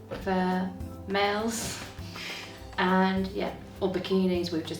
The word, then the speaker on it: bikini: And bikini is bikini, like with a slightly Hungarian pronunciation, bikini. Bikini. That almost sounds like a French pronunciation. Well, it's very similar. It's very similar to the French bikini.